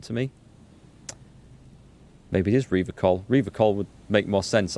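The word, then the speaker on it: Revachol: He pronounces Rivachol with a hard K, unlike other people.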